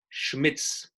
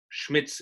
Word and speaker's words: Schmitz: How to pronounce my last name is very easy, actually. It's a typical German name, Schmitz. Schmitz is a last name.